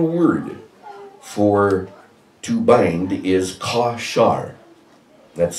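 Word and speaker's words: קָשַׁר: The Hebrew word for to bind is kashar. That's spelled Q-A with a little triangle over the A, little rooftop over the A, K-A-S-H-A-R.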